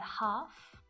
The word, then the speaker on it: half: Calf and half.